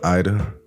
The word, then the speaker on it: Ayda: And we're here with Ayda.